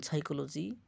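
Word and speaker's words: psychology: যদি পি সামনে থাকতো তাহলে যেমন সাইকোলজি পিটা উচ্চারিত হয় না।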